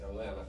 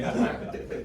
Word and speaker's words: Atlanta: It's pronounced Atlanta. I heard Orlando. Oh, wow. We say Atlanta. No T.